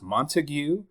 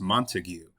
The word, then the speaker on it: Montague: And in those it seems that this name is clearly pronounced Montigue. So does that mean the county of Texas as well as the city within the same county is pronounced Montigue?